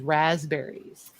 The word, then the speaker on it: raspberries: She wants to know how everyone pronounces raspberries. I do not use the P. It's silent in my world.